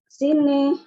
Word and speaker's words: sine: Oke ya, di sini adalah sine nomine, gitu ya. Jadi benar, tapi cuman bacanya ya, bukan sign. Sine. Oke, sine nomine.